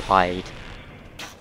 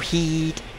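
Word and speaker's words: Heide: Instead we're going to go to hide. Or heed. I don't know. I say hide. Some say heed.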